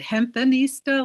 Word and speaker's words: Hempanista: I was going to spell it hempanista, like hempen along, but it's PENIS, and I kept getting rejected.